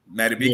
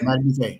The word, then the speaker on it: Madubuike: And that's how you pronounce his name? Madubuike. Yeah, Madubuike.